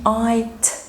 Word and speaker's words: night: الورد دي night night. الجي اتش سايلنت.